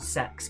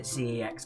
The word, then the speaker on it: CeX: video games and electricals called sex but ever pronounces it cex because otherwise it sounds like you're going to a sex shop but it is a